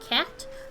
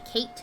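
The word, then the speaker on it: Cait: as a kate or apparently it's actually just pronounced cat but i'm gonna say kate because it sounds cuter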